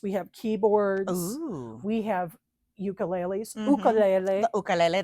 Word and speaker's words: ukulele: We have ukuleles. Ukulele. The ukulele. That's how they say it in Hawaii.